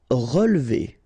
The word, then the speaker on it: relever: Relever. Okay, so first re, then we don't insist on this here. So, relever, relever.